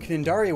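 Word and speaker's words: Cnidaria: see an enemy are in the phylum cannindaria with a silent sea and are closely related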